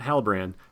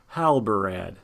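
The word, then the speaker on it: Halbarad: gimlies and Hal Brad gotta make sure I say it right not Hal brand Hal Brad there we go let's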